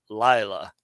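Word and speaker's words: לַיְלָה: carala he called night notice this little accent here on the first syllable Lila not on the second syllable like it usually is okay go Jason yeah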